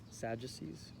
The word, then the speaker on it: Sadducees: a side note here that is pronounced sadducees with a j sound i don't know see